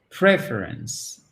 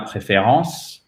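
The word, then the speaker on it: preference: proulx fo est ok préférence et là vous mettez bien accent tonique sur la première syllabe aussi ce n'est pas préférence dans ses préférences il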